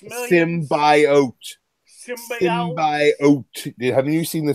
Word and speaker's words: symbiote: And she has a stillborn symbiote. And then it's pronounced symbiote. Symbiote. Haven't you seen the trailer? It's symbiote.